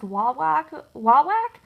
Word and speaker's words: Wawak: I ordered some from this company, I think it's pronounced Wawak, W-A-W-A-K, and the cones were only $1.79 on sale, but the sale does end today on May 31st.